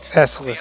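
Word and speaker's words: Esseles: Esselis is how you pronounce the name of this space station Execution is everything.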